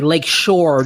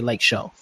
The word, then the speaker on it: Lake Shore: us41 some people say lake shore drive you know they pronounce the r i just say like show um yeah so like